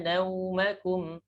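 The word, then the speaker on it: نومكم: Waja'alna naumakum. Naumakum. Jadi dibulatkan bibirnya. Naumakum.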